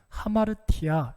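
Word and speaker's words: ἁμαρτία: 벌어지게 됩니다 죄를 하라 헬러 발음으로는 하 마르티 아 이렇게 발음을 합니다 이 말의 원래 뜻은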